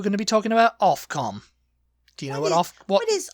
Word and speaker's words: Ofcom: I always just assumed it was OFF. Off, because you're pronouncing it like OfCom. Yeah, I mean, it technically should be. Yeah. But it's OFCOM.